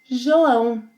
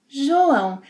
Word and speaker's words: João: João. João. The letter J will always have a J sound.